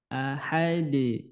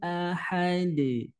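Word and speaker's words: أحد: ketika huruf Dal sukun maka terjadi pantulan Ahad namanya qqalah Kubro Iya jadi pantulannya kuat ya pantulannya kuat qulhuwallahu Ahad Qul huwallahu Ahad nah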